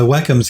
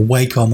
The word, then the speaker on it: Wacom: i've got i use wacoms but um or wacom waste i still think they should be called wacom but i think the proper pronunciation is wacom which just sounds weird to